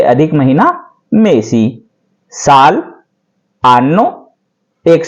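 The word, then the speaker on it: anno: होगा एक साल होगा आनो आनो जो आ का आ एन एन ओ हान वाला था वही इसका है प्रोनाउंस सेम है आनो और बहुवचन होगा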